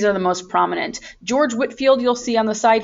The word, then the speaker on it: Whitefield: movement are george whitefield i know it looks like whitefield that's the way it's spelled but it is pronounced whitfield and jonathan edwards and